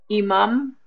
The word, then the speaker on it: imam: Oh, imam, right, with the E sound.